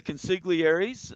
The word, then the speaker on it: consigliere: This is the premiere episode of the Consiglieres on, is that how you say it?